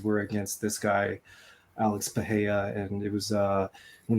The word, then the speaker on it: Pereira: are going to start off with Mr Alex pahaya and that's how you pronounce it um this one is terrifying he's